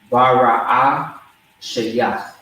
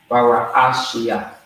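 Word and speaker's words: בראשית: It's going to be Bara'ah Shayach. Okay? Bara'ah Shayach. All right? Which means Genesis. So, just to spell it out for you, it's going to be BARAASHAYATH. Okay? All right? So BARAASHAYATH. Bara'ashia.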